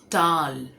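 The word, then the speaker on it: towel: टॉवेल टॉवेल मतलब तौलिया ये एक्चुअली टॉवेल नहीं है इसे कहते हैं टाल जैसे हम डाल बोलते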